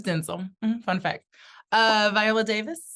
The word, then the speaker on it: Denzel: Eddie Murphy Denzel Denzel Denzel like tinsel let's say he said